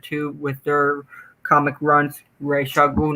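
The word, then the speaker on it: Ra's al Ghul: too wrong it's like saying that um people pronounce actually right racial guru yeah i used to say i used to say rasal ghoul but i had no offender says race racial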